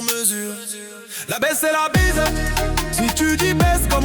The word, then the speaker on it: bise: Si tu dis baisse, comme on te fait payer le maximum. Si tu dis bise, comme on te fait un prix sur ta com. Non déconne mais prononce bien.